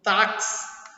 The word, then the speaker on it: táxi: Porque esse X aqui, ó, do táxi, eu pronuncio KS.